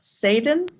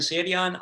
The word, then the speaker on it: Sadion: move on to saden i'm sure i mispronounced that it's it's say idion it's no worries everybody does it's a tough thing sorry okay um yes my name is sadion i live montgomery county